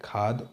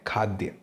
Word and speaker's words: खाद्य: उसे कहा जाता है खाद उपलब्धता या खाद्य उपलब्धता मेरे मुंह से खाद निकल गया जबकि सही उच्चारण जो है इसका वह है खाद्य दूसरे नंबर पर देखिए